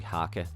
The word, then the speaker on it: haka: Like I said, it's actually haka and it doesn't fucking rhyme at all.